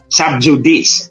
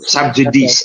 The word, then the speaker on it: sub judice: mga kababayan natut subj sub judice o sub judice or sub jdc but it's a latin word J in Latin is pronounced y and when c is in Between Two vowels It's so it's pronounced